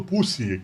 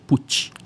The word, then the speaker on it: Pucci: A quando enxerga do outro lado, Pussi, que aqui está, essa pronúncia correta? Pussi é com som de T. Puti. Italiano.